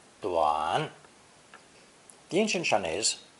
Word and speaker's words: 短: This new combination is pronounced third tone, duan, duan.